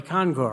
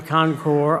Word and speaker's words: concours: going to have a concore right I had to go home and look it up you don't pronounce the S I've learned uh so uh they agreed to have the concore on their front yard